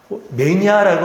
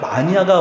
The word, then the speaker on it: 마니아: 매니아라고 하는 것이 아니라 마니아가 원래 발음인데요.